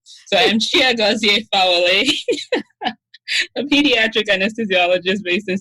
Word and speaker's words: Chiagozie Fawole: in the ICU once, where I pronounced my name like I just did. And this Nigerian lady just totally washed me down because she said that I anglicized my name. So I'm Chiagozie Fawole, a pediatric anesthesiologist based in Syracuse, New York.